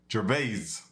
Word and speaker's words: Gervais: say jinbodhi's is okay I've been saying it wrong - I put the S on it so now I gotta remove the S and put a Z Gervaise I got you got